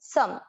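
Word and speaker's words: सम्: म के नीचे क्या है? हलंत, मतलब आधा है, तो सम, सम।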